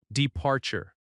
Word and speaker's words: departure: Departure. Stress on the second syllable.